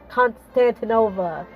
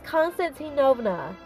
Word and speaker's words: Constantinovna: i know it sounds like uh lindsay holliday pronounces it as uh constantino constantinova i'm like no that's not it it's constantinovna of russia she was a member of the